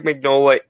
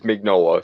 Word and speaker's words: Mignola: often when I hear when I hear Michael Magnolia introduce himself in interviews it's always mignola so now here's assuming he knows how to pronounce his own name here that settles the